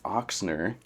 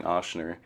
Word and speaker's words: Ochsner: get to sit here with Casey Flickinger with oxner I was mispronouncing it I was saying Asner everybody does and uh so oxer Chiropractic and